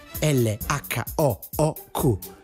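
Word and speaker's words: L.H.O.O.Q.: aggiungendo dissacrazione alla dissacrazione ha scritto subito sotto l h oh oh oh che letti nella pronuncia francese e lo shock suonano come le brucia il deretano il ready made oggetto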